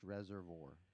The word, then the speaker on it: Reservoir: Tully from Reservoir, because he says it's pronounced Reservoir, asks, have you ever met the president or any president?